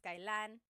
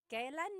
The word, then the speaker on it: kailan: And here are just some other ways to use kailan.